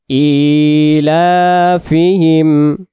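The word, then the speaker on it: إِيلَافِهِمْ: উচ্চারণ করব কুরাইশরাই লিলাফ পরের আয়াত ইলাফহিম ইলাফিহিম খারাজের এক আলিফ লা খারা জবরের জন্য এক আলিফ তাড়াতাড়ি হিম তাড়াতাড়ি তাহলে এই শব্দের ভিতরে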